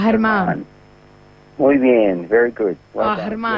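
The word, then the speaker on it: Germán: So the G sound is pronounced like a H, and then you put an accent at the end. So it's pronounced Herman.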